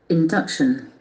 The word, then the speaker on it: induction: induction, Induction, the accent falls on the second syllable.